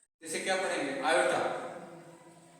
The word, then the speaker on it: iota: आयोटा। तो चलिए 1 minus 4 आयोटा का कॉन्जुगेट कॉम्प्लेक्स क्या मिला? तो ये मिल गया। ठीक है, तो चलिए अब इसको क्या करेंगे? 1 प्लस 4 आयोटा से ऊपर नीचे मल्टीप्लाई करेंगे।